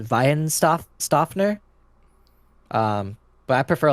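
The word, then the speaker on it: Weihenstephaner: I think it's pronounced Weihenstoffner.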